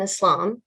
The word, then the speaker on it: Islam: someone who believes in islam again islam it's like bliss that first part of